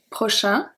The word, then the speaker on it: prochain: Here the pronunciation is very different, because prochain, A-I-N, make the sound un, while prochaine, because we pronounce the N, because the E give its power back, the A-I is pronounced E, so we have prochaine, prochain, prochaine, okay?